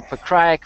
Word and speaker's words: Pokryak: Let's move on to a light heavyweight clash between Igor Pokryak. Dig how well I pronounced that. I gotta say, I did not say Pokryak like I normally would. Igor Pokryak versus Joey Beltran.